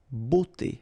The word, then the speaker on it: beauté: Remember, we've got this combination of a, u here, of the vowels, okay? But then it will give you the sound o, beauté, okay?